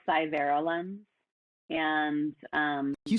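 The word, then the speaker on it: SciVera Lens: was though it's kind of a hard to pronounce it's called cyber lens and um you spell that for me yeah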